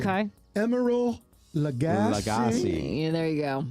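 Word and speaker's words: Emeril Lagasse: And help me with the pronunciation. Okay. Emerald Lagasse. Yeah, there you go. Emerald Lagasse, celebrity chef.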